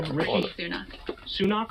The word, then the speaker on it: Sunak: bold move so Rish how do you pronounce this guy's name sunak or sunak sunak I think sunak okay rishy sunak he